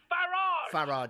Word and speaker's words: Farage: It's Farage. Pronounce it the British way, please.